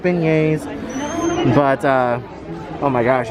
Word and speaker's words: beignets: and that's really good and now they have bag nets over here this year so we're definitely wanting to try that and yes guys we know it's pronounced beignets but uh oh my gosh it smells absolutely